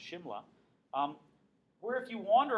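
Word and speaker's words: Simla: the London spelled without the age but it's pronounced Shimla um where if you wander around it's still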